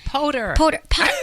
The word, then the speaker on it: Poter: It's Poter. Okay, why is it? I said that. Okay, Poter. It said Porter. Poter.